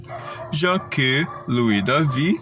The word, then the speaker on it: Jacques-Louis David: Jacques-Louis David, sim, é assim mesmo que eu pronuncio o nome dele com toda essa frescura, Jacques-Louis David, foi o maior representante da pintura neoclássica.